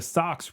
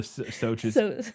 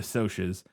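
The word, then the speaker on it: Socs: the actors playing the Sox were given leather-bound scripts and were put up in Sox. Oh, the Soches. That's right. I forgot it's pronounced weird. It's not pronounced how it's spelled. No. The Soches were given leather-bound scripts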